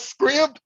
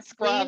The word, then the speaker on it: Scribd: That's script. Oh my god, I've been pronouncing that On wrong my whole life. I have I've too, been but saying I seen scribe a my whole life.